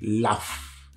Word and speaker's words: laugh: Donc, comment se lit L-A-U-G-H? Ça se lit laugh. L-A-F. Laugh.